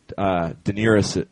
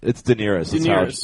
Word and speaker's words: Daenerys: Oh, no, I think it's Daenerys. That's how George says it.